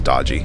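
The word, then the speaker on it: DOGE: If Dodgy is going to cut, which is now, I've decided how I'm going to pronounce it, by the way, is Dodgy, D-O-G-E, because it is bloody dodgy.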